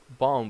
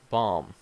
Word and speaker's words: bomb: you know incorrect way like bomb B that's not good okay bomb the other one Wednesday